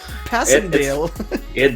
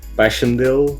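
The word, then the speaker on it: Passendale: Yeah, it's actually Passiondale. that's how you say it. Like if people come from the UK and stuff, they say Passiondale because of the war and stuff.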